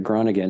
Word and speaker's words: Groningen: I ended up, there was a team in the northern town called Groningen, is how you pronounce it, Groningen in the Netherlands, that their goalie had just left.